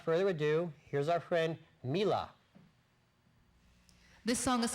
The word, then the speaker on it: Mila: Her name is Mila, M-I-L-A, not pronounced Mila. Mila.